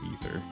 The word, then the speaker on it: Aether: a pronunciation guide okay so ather is ether that's my bad and they have uh